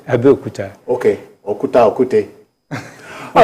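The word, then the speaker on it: Abeokuta: You are from Abiokute. That's not the correct pronunciation. Okay. Abiyokuta.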